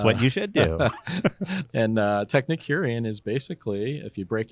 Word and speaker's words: Technicurean: Signature Kitchen Suite is made for the Technicurean. Did I pronounce that correctly?